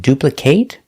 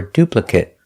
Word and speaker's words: duplicate: If it's a verb. If it's not a verb, we pronounce it with the short sound.